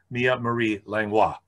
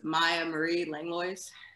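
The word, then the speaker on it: Mia Marie Langlois: to present to you mia marie langhois thanks paul uh so to pronounce my name it's maya marie langlois okay i butchered that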